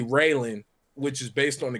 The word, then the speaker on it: Raylan: My daughter's middle name is like people pronounce it Raylene, which is fine, but it's really Raylan, which is based on the character from Justified, Raylan Givens.